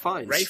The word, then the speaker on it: Ralph: But yeah, no, but it's written Ralph, isn't it? Yes, but it's pronounced Rafe, because there are two different ways of pronouncing it.